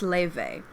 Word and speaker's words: Laufey: It's spelled like Lofi or Laufey, but it's pronounced Leve.